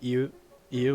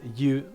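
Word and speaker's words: 言う: But that can also be pronounced colloquially as you instead of iu. Because iu is a little bit hard to say, but like we can like mesh it together phonetically to say you.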